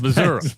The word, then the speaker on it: Missouri: It's Missouri.